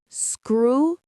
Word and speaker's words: scrutinize: Scrutinize. The stress is on the first syllable. Screw. And that eyes at the end sounds like the word eyes.